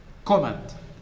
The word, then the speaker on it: comment: tied look comment comment so which syllable the first one you are stressing the first right so this comment not comment i hear people say comment stressing the second syllable comment it should be comment not comment comment look at